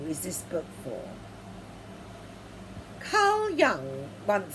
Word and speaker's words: Jung: prevalent in our society jung believed as i do pronounced young that many people experience